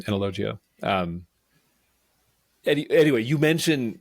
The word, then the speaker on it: Analogia: highly recommend the book analogia um I'll say it like that it technically it should be because there's a i after the G and so that should soften the G so analogia um any anyway you